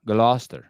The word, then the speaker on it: Gloucester: see a GL Gloucester gler gler I don't pronounce all the middle letters okay listen don't do